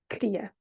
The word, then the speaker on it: queria: Notice the difference between the spelling and the way I pronounce it, queria.